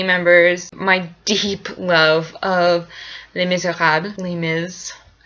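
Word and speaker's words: Les Misérables: Again, funny, I was just discussing with some family members my deep love of Les Miserables, Les Miserables, for those of you who don't actually know how to say it.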